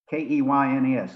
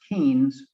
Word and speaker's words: Keynes: of John Maynard Keynes, K-E-Y-N-E-S, looks like it should be pronounced Keynes, but it's actually pronounced Keynes.